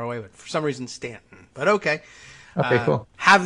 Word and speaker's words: Staunton: issue on the show I asked I happen to know Stanton they don't use that you have spelled Staunton sta you and AM they I don't know